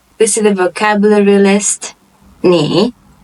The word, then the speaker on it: 你: 你 The third tone, you.